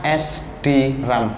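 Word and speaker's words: SDRAM: Generasinya SD RAM, bacanya SD RAM.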